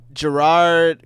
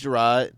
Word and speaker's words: Jerrod: chris rock special uh gerard carmichael oh yeah okay i think it's jerrod i think that's how you say his name yeah um but